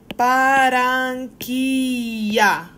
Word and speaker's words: Barranquilla: Cuando tú tienes doble L, se pronuncia como Y en inglés. Por ejemplo, okay? For our last project, we had a place in Colombia called Barranquilla. Barranquilla. It's pronounced like a Y.